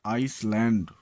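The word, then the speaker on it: island: S silent आई तथा आई के बीच आया हुआ एस कई बार साइलेंट होता है, जैसे आइसलैंड टापू, आइसलेट छोटा टापू।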